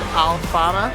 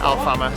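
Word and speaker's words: Alfama: towards a place called alfana i hope i'm pronouncing that right our hotel except just pronounced it al farmer so i hope that's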